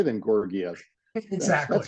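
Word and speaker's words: Georgiev: Help me with the name, because I'm going to mispronounce it when I say Grigoriev. Yeah. Gorgiev.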